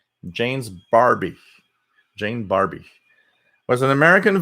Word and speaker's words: Barbie: so WWV H of voices Jane berm or Barbie so it's pronounced Barbie Jane's Barbie Jane Barbie as an American voice actress and